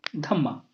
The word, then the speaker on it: धम्म: तो जो संस्कृत में इसका जो वर्ड था उसको हम कहते थे धर्मा, और यही धर्मा अगर प्राकृत में प्रोनाउंस करेंगे तो ये हो जाएगा simple name, that is दी धम्मा.